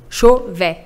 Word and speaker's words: Chauvet: A U no francês, você pronuncia O. Chauvet.